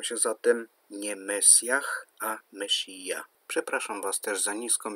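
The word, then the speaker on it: משיח: pomazaniec, brzmi po hebrajsku Mesjach. Pomyliło mi się trochę z angielską wersją tego słowa. Zresztą pisze się to tak samo, z tym H na końcu. Po prawdzie po hebrajsku wymawia się to Mesija, i Żydzi czekają na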